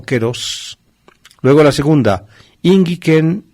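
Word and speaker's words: καιρός: Se ha cumplido el plazo, o keros. Kairos solemos pronunciar nosotros, en griego moderno y posiblemente ya en el antiguo, en la época de Jesús, se pronunciaba la A y se pronunciaba E.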